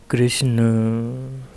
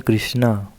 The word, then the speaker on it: कृष्ण: अच्छा एक चीज और जो लोग बोल देते हैं कृष्णा रामा तो ऐसे बोलने का मतलब यह हो जाता है कि आपने उस शब्द को स्त्रीलिंग बना दिया है तो इसलिए कृष्णा नहीं है कृष्ण सही उच्चारण है तो इसी के साथ